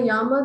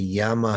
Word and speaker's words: Yama: I think the Yama heaven is the short A, and Yama, the gatekeeper, is a long A.